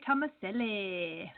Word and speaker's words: Tomaselli: How do you pronounce Dante's last name? Dante Tomaselli.